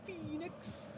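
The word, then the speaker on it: Phoenix: It is pronounced FENIX, and it is FENIX later on.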